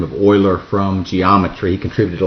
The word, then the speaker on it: Euler: It looks like Euler, E-U-L-E-R, but it's pronounced Euler.